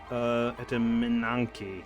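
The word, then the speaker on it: Etemenanki: Also, and just to give you guys an idea, Etranank is it's a kind of a mistranslation of Etymanki, I believe is how you say it. Etymanki, that's what it is.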